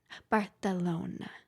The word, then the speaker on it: Barcelona: Barcelona Barcelona Why do you say it like that? That's how people celona That's how you're supposed to say it. It's like Ibiza.